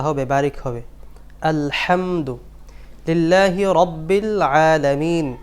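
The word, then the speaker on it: رَبِّ: আলহামদু লিল্লাহি রব্বিল আলামিন। অনেকে বলেন রব্বিল, বাংলা ভাষা যে র আছে, র বর্ণ, এটা ভুল। র জবর র, রব্বিল না, রব্বিল, রব্বিল আলামিন।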